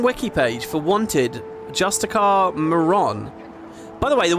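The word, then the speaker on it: Justiciar: I would say Justicia Hablion is blah, blah, blah, and blah, blah, blah, Justicia. And then I got a comment, right? Someone was like, it's pronounced Justicar, by the way.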